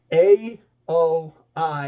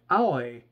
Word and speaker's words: Aoi: It's A-O-I. It's Aoi, I think is how you are supposed to say it.